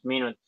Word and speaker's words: minutes: The I is shorter.